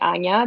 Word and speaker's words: Ania: My actual name is Anna, but my family calls me Ania because that's how you say it in Polish.